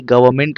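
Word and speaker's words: government: Silent कर देंगे। ऐसे ही गवर्नमेंट होता है।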